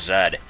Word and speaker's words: Z: button in a song, it's supposed to be pronounced Zed, or else it won't rhyme, because I know that